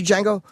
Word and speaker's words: Django: Did you see Django? Not yet. There was. I like to call it the Django. Django. I like pronouncing the D.